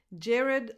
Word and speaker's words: Jared: Jared Leto. Jared, red. Last vowel in his name is a schwa. Red. You just go from the R to the D.